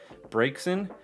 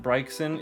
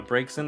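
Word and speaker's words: Braixen: pronunciation of the day it is breaks in uh not brexit it is uh breaks in the fox pokemon the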